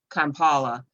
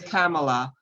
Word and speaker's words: Kamala: say something like that they may they may pronounce her name kampala knowing that full well that it's kamala but mispronouncing someone's name intentionally is practicing racism